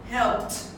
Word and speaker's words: helped: Remember the ending sound. Never help it. Helped. Okay? Helped. Lived.